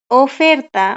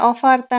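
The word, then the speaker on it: oferta: পারছেন আচ্ছা তারপরে হচ্ছে ও ফেরতা ও ফেরতা এটা অফারতা না ও হ্যাঁ এটা হবে ও ফেরতা আচ্ছা তারপরে পেরোনা মানে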